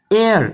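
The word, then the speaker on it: heir: Next question guys, ही died without dash एयर। देखो इसमें इस वर्ड में ना एस साइलेंट है और इसका मतलब होता है वारिस,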